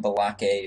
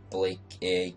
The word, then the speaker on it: Balake: I'm Balake, or Blake A. I have the accent on the E, because I started over the game a couple times, because I was doing some genning mistakes.